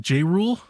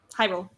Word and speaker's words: Hyrule: J Rule? Hyrule.